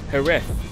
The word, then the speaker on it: Jerez: We are now at Jerez, or as the locals say, Jerez.